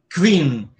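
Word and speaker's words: kvin: Queen. Esse que só tem uma sílaba, só tem uma vogal.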